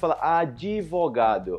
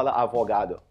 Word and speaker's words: advogado: Remember that in Portuguese, we don’t say it like in Spanish, like “abogado,” we say “advogado,” okay? We don’t say “avogado.” “Advogado,” okay? Quickly, like this. “Advogado, advogado.”